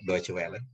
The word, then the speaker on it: Deutsche Welle: Kalau Deutsche Welle ya pelafalannya sudah banyak yang benar, tepat sekali. Kita bilangnya Deutsche Welle.